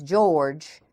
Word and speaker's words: Georg: is the German Antichrist and his name is George without an e on the end g-e-o-r-g pronounced Georg ancewein who is an Archbishop and